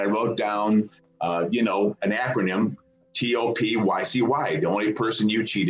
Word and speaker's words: TOPUCU: And I just pronounced it like, I just made it up. I made it up, it's like, a toe and Winnie the Pooh and a bird going coo.